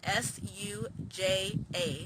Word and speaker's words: Suja: order on their website it's spelled s u j a suja um also you can